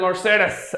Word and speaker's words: Mercedes: जरूरत नहीं है, पर it is Mercedes. Alright, that's how the Germans pronounce it.